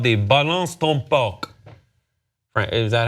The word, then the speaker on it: balance ton porc: Actually, in France, it's called the balance ton porc. Is that how you say it? Balance ton porc. Balance ton porc, yeah.